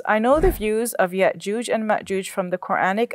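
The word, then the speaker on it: يأجوج: But in the Hebrew, the jim is pronounced with, it's a hard G. So Gog and Magog, whereas in Arabic, it's the soft G, like in George. Hmm. So it's Ya'juj and Ma'juj.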